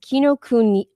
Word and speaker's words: Kinokuniya: bookstore that we went to, I have to pronounce the name correctly. It's called Kinokuniya.